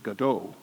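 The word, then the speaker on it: Gadot: recession so I thought maybe he doesn't mean godo maybe he means Gaydo so look up who's Gaydo and Gato is Miss Israel who pronounces her name by the way Godot and she's Wonder Woman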